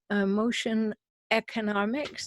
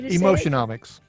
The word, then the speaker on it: Emotionomics: read his books emotional emotion economics is that the right way emotionomics emotional mix I got an extra syllable in there um go